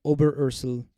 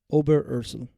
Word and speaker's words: Oberursel: Oberursel. Oh, gosh. Ober. Oh, well, hold on. Let me do Ober. Ursel. Got it. It's like exactly how it's spelled.